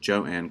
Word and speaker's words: Joan: She disliked her "new" name and initially encouraged others to pronounce it Jo-Anne Crawford.